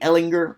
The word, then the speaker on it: Ehlinger: i don't really trust Sam hard G Ehlinger or Shambu show I